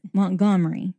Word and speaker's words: Montgomery: That's not right. It's Montgomery. Like Montgomery. Montgomery. you gotta get a little Cajun and a little Southern in there to say it correctly.